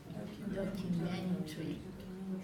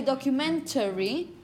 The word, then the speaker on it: documentary: Documentary. Exactly. You could say documentary. Many people simply say documentary.